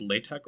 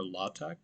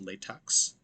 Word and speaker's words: LaTeX: using latex so important to note that it's pronounced latex or latex it's not pronounced latex so keep that in mind and what is